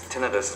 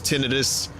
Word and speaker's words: tinnitus: I've heard, I've heard it pronounced both ways. Tinnitus, tinnitus.